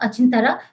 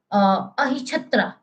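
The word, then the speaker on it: Ahichhatra: First one is the Achintara, whatever the pronunciation you can pronounce. Okay, Ahichatra.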